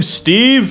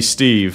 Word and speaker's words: Stev: dude is your name Steve no it's stev that's kind of a funny name bro I'm pretty sure it's supposed to be Steve no that's how it's pronounced and what are you